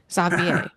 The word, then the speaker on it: Xavier: Xavier, thank you for letting me know how to actually pronounce it. I've only ever read the name. Xavier.